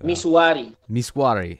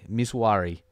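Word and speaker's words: Misuari: Miswari. Miswari.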